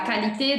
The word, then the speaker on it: qualité: Sempre que a gente tiver que ou, em francês, a gente vai pronunciar como se fosse um K. Donc, qualité, ou um C. Donc, la qualité de l'emballage.